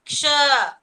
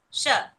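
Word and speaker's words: क्ष: This Sha, I told you how you should pronounce. Should pronounce along with the ik sound. Ksha. Not blankly, you should not say it as Sha. Iksha.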